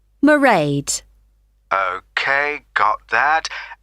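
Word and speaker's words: Mairead: see my assistant merade sorry how do you spell that it's m a i r e a d marade okay got that it's not a name i'm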